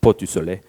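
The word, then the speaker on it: Portes du Soleil: Many, many trips in Châtel and Avoriaz, and I'll say it properly, Port du Soleil.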